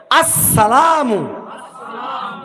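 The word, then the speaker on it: السلام: আসসালামু জোরে বলেন আসসালামু হামজা শক্ত হবে। সিনটা ডবল উচ্চারণ হবে। সিনের উপরে তাসদিদ আসসালামু সিনের উপরে জবর হবে অনেকে সিনের নিচে জের দেয় আসসালামু না আসসালামু না অনেকে না আসসালামু বলেন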